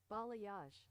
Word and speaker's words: Balayage: Balayage.